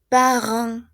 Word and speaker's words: parents: C'est le père, oui, le père, la mère, les parents. Esta EN suena a AN, ¿se acuerdan? Parents.